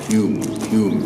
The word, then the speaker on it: Home: Dunglass originally belonged to the Earls of Home, or Hume. They call their surname Hume, but it's pronounced Earls of Home.